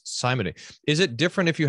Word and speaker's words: simony: Pastor Nauman, I need you to tell me how to pronounce simony. Is it different if you have a slightly British accent? That's a good question. Jim, rhymes with Jim.